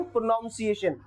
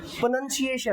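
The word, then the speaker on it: pronunciation: प्रोनाउंसिएशन। लेकिन होता क्या है? प्रोनंसिएशन। अब देखो यहां पे उसने बोला प्रोनाउन नाउन नहीं प्रन प्रोनंसिएशन का मतलब होता है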